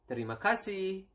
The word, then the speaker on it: terima kasih: It is terima kasih, and then sorry, maaf, and then we have